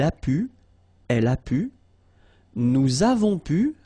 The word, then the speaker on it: nous avons pu: Nous avons pu. Little link, little liaison between the two. Nous avons pu.